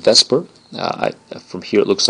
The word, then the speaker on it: VSEPR: will be something called Vesper uh from here it looks like it's Seer but don't let your friends pronounce it seper make sure Vesper is the way we call it in the business and again this means